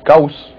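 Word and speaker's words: Gauss: Well, there's Goss, which my encyclopedia pronounces Gaus, and Orsteads or Earths,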